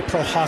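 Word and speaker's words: Prochazka: I've been waiting to say Prohaska. I was going to say, not to screw it up. That was perfect pronunciation.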